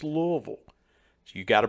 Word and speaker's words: Louisville: louisville kentucky and yes that is the proper pronunciation it's louisville if you pronounce it louisville or louisville you're pronouncing it wrong it's louisville so you got to pronounce it correctly but